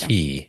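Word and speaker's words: Cay: Key. Like my mind's I keep so wanting to say crazy. K because I know I always want to say K too. It's spelled K-A-Y. K, but it's Key. Yeah, because Key, I Castaway Key.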